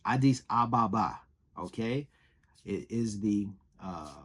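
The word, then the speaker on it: Addis Ababa: capital he can't he he didn't even know how to say the capital the name the the the he was Adis Baba something it's Adis Ababa okay it is the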